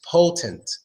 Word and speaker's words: potent: in the first word an impotent gives the schwa sound that Oh gets the schwa sound so it becomes impotent impotent but it doesn't get the swats out in the second word is potent potent or opponent even potent in